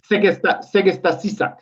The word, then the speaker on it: Segesta Sisak: You you spent time and help me pronounce the name. Is it Segesta Sisak? Is that how you say the club? Segesta Sisak.